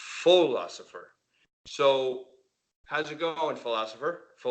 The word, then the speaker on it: Pholosopher: So, how's it going, Philosopher? It's philosopher, just like Philosopher. the main word.